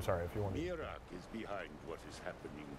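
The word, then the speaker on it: Miraak: Learn there the word that Mirak learned long ago. Iraq. And use That is- that knowledge. That is our official pronunciation.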